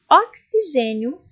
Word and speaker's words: oxigênio: Palavras com som de KS. Leiam comigo. Táxi, tóxico, oxigênio, anexar, axila e fixar.